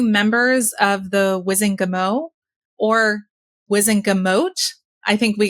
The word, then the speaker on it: Wizengamot: These were 2 members of the Wizengamot, or Wizengamot. I think we got some feedback from a listener recently suggesting we should pronounce the T. It should be Wizengamot because it was Whitengamot, but I will say